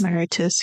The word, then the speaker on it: Mauritius: think I'm going to pronounce this name correctly, Mauritius Brown. Mauritius. Is that how you pronounce it? It's based off the country, right? Named after the country? Yes. Mauritius, yeah.